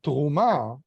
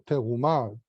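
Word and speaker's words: תרומה: So if I use the term truma or teruma, properly pronounced in Masoretic Hebrew, to describe a donation, I'm not saying teruma as trumat kodashim, for example.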